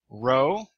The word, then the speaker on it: rho: Rho, sounds like R as in run.